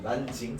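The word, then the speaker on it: 南京: 남경을 한자로 읽으면 남경인데 그걸 중국어로 읽으면 뭘까? 한자의 남을 중국어로 난이라고 읽거든요. 그래서 난징이라고 얘기를 합니다. 난징 들어봤죠?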